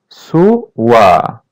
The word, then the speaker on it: sua: Sua. As you see, letter U is pronounced as W.